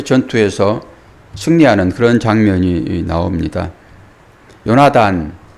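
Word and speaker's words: יהונתן: 승리하는 그런 장면이 나옵니다 요나단 요나탄 요나 예탄음 예호 나탄 이런 발음을 합니다 이것은 여호와께서 주셨다 이런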